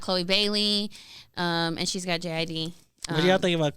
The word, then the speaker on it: JID: song with is it JID? Yeah. And they're Someone like, told me he pronounces it as Jid, Jid.